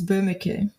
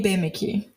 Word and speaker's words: Boemeke: make that clear but the way germans pronounce it is burma k i i say bamiki which is like the brazilian version of that in that case isabelle